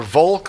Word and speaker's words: Volk: they missed it or vulk well well you know if if you speak German you pronounce the V with an F so you pronounce Fulk that that's like like